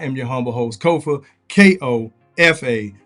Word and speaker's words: Kofa: Once again, I am your humble host, Kofa, K-O-F-A. Not coffee, not kufu, not Kofi, or any variation thereof. Kofa rhymes with sofa.